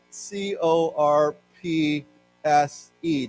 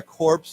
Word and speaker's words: corpse: Does anyone know what a corpse is? Yeah. Dead body. Uh, what is it? Shut. Right. Uh, but and here we do pronounce the P and the S.